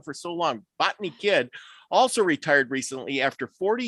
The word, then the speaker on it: Bogi-Kidd: Bogni-Kidd also retired recently after 40 years of office managing for Dave and his predecessor.